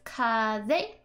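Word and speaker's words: 風: and I just are telling you how to pronounce this word so it's kaze for wind and if you can't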